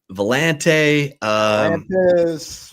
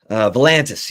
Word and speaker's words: Volantis: How you pronounce his name? Dylan Vellante. Is that solid? Let me. Volantis, yeah, sorry. Volantis, okay. Dylan Volantis.